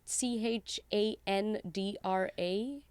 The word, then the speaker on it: Chandra: again Subash Chandra Bose so but can you spell that for me Subash su be a sh Subash Chandra CH a n dr a Chandra Chandra which is Bo se like pose